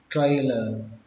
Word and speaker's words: trailer: Xe thì các bạn đọc là trailer, các bạn nhớ là âm tr, trailer, trailer. Không phải là trailer mà nó là trailer, trailer.